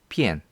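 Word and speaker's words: 变: 참고로 변할 변자 같은 경우는 한중일 삼국이 다 다른데요. 예를 들어 일본에서는 이렇게 해서 여기까지 포함해서 이렇게 쓰고요. hen이라고 읽죠. 중국에서는 삐침도 없습니다. 이렇게 해서 그냥 또 우자만 이렇게. 그래서 비엔이라고 합니다. 그래서 변, 헨, 비엔. 한중일 삼국이 다 다른 것을 알 수 있습니다.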